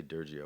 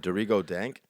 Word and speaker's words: Dorigo Dank: I always want to say Durgio, but that's not how you say it. Dorigo Dank.